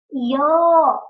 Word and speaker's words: your: Йо, буковка R не читается, подчеркните.